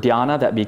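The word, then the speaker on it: dhyāna: The word for jhana in Sanskrit is dhyana, D-H-Y-A-N-A, dhyana. So when this word and this practice of meditation went to China, they pronounced it channa.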